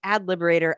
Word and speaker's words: ADT Liberator: It's pronounced ad liberator. I just say it that way for the spelling of Twitter.